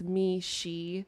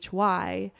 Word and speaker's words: Meeshy: And then like my favorite part about Meeshy is that when you pronounce it, it's me, she.